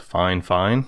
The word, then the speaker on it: Fifine: made by this company they told me it's pronounced fine fine which to me it's missing a couple letters but i guess we'll